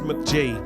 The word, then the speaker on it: Mk.gee: Okay, I can see that his EP released in 2018 was called pronounced McG.